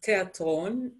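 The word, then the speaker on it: תיאטרון: actually pronounced as universita theater is pronounced as terton and you can probably hear from my accent that we don't have a th sound in name hebrew and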